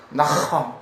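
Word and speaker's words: נחם: 여러분 나함 해보세요. 나함 이걸 함이에요. 그것도 아니고 흐하고 중간 발음 나함.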